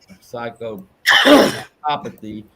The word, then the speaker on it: psychopathy: on c rock set it's it's the same it's the same emphasis on the syllables as sociopath socio sociopathy and psycho psychopathy and i can't talk